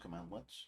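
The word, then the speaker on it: cmdlet: mentioned power commands are known as command lets pronounced command lets yeah they are much more powerful than the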